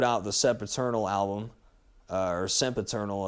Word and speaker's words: Sempiternal: Then they changed to metalcore for a couple albums, put out the Sempiternal album, or Sempiternal is how it's pronounced.